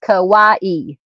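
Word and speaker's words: Kauai: DD says it's pronounced Kawaii. Thank you, ma'am. All right. Sounds like Hawaii but with a K.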